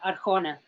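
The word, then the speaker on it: Arjona: r i a huh the last name is uh arcona thank you it's a-r-j-o-n-a yes thank you thank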